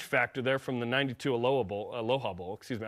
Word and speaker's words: Aloha: Plus, there's some, revenge factor there from the 92 Aloha Bowl. Excuse me. I pronounce it like the city in Oregon.